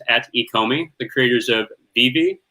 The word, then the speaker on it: VeVe: He's also a senior operations consultant at Koii, the creators of Vivi. I believe that's how you say it, or is it Veve? No, it's Vivi. Vivi, good.